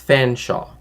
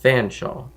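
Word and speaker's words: Featherstonehaugh: one word it's pronounced fans Shaw but there's a lot of extra letters for that to be just fan Shaw right um and then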